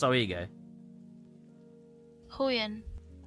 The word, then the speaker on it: Huion: Hoyen. It's pronounced what? Hoyen. Hoyen. Huion.